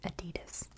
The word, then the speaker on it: Adidas: founded the sportsware company Adidas which gr to a global business Empire that is how we pronounce it in the United States I know that's not